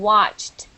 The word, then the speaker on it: watched: what about these two laughed and watched watched is only t l maybe only T pronunciation is different yes absolutely um but